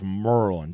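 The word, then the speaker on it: Maryland: You got to say it like that. It's Merlin. Just like when you go to Louisville. It's not Louisville. It's Lowell. Okay? Merlin. Lowell. That's how you say it.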